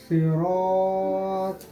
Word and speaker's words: صراط: صراط الذین انعمت علیہم. یہاں تک ہم پہلے ہجے کر لیں گے. صا زیر سی، صاد پر حروف ہے، اس کو پر کر کے یعنی ہیوی سے پڑھیں گے.